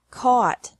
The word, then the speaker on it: caught: past and past participle this can be spelled o u ght or a u ght but the pronunciation is the same bring brought brought bu bought bought catch caught caught fight fought fought seek sought sought teach taught taught think thought thought remember that the g is silent in these verbs verbs with three different